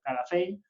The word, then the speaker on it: Calafell: Aquí se celebra la era medieval, en aquella época se escribía Capafell, que se pronuncia Calafell, sí, y en esa época lo escribían con P.